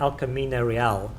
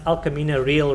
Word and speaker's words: El Camino Real: When a system that reads back to you pronounces something incorrectly, like El Camino Real, if that pronounced El Camino Real Road, it's spelled real, R-E-A-L, but it's real.